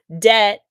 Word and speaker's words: debt: Debt. Silent B, borrowed from Latin, island, silent S, added by mistake, and a myriad of other spellings that whisper of history long past.